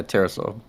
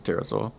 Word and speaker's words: Terrasaur: your name man yeah terrasaur terasa like dinosaur it's not a dinosaur it's a terrasaur yeah he's got a